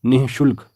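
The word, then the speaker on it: निःशुल्क: विसर्ग लगता है और इसका उच्चारण होता है नि शुल्क निशुल्क इसलिए शुद्ध वर्तनी है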